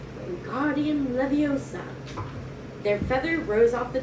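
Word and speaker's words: Wingardium Leviosa: much more luck when guardian leviosa he shouted waving his long arms like a windmill you're saying it wrong harry heard hermione snap it's when guardian leviosa make the gar nice and long you do it then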